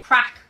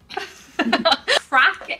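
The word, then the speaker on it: craic: Crack.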